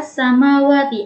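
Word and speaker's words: السماوات: Cara membacanya yaitu alif lamnya tidak dibaca jelas, tetapi langsung masuk ke huruf-huruf syamsiyahnya tanpa membaca al.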